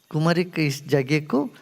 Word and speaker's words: Kumari Kandam: name 'Kumari Kandam' so they turned the 'K' into 'L', 'Lemurri' instead of 'Kumari'